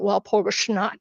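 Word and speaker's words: Walpurgisnacht: you will, or uh while Porgus knight, it's and they call it while porgusnut. It's it's a different different pronunciation obviously, but they believe the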